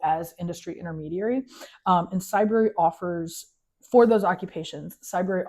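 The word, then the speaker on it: Cybrary: with a entity called Cyber. So it rhymes with library, but it's for cyber.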